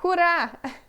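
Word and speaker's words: hurra: top Ah que legal hurá hurá a gente não pronuncia os dois R aqui a gente fala só hurá Hur hurá é hurá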